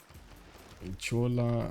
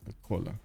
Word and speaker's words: Chola: Chola, wait. Oh, Rajendra Chola. Oh, that's not cola.